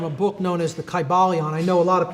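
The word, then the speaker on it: Kybalion: would have been pronounced in the ancient greek language in which there was no like short y sounds you know it would have been a long i sound chi ba leon and every syllable would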